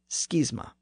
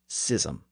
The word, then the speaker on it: schism: Greek and Latin pronunciations in other words it should mirror the pronunciation of words like school and scheme today both pronunciations exist gism and sism alongside Schism which is